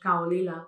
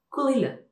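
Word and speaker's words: Caol Ila: Que decimos Kaolila porque es lo que vemos en la etiqueta. Y es Kulila. Podemos parecer un poco tontos, sí, lo sé, pero se pronuncia así, Kulila.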